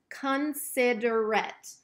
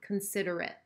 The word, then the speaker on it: considerate: six considerate come sit I know it's gonna end in a te but it is not making the 8 sound it's making that schwa sound again it makes it sounds like the silent e sound considerate or I'm sorry the silent I